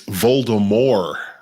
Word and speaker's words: Voldemort: One of my children was informing the other, it's Voldemort. That's how they really pronounce it.